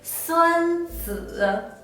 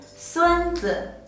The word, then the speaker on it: 孙子: If we pronounce this character the original 3rd tone, it will be 孙子. The word means an ancient military strategist. But if we pronounce this character the neutral tone, 孙子, it means grandson.